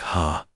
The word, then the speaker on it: ha: She showed him how to say hello, which sounded like ha, and thank you, which was ura.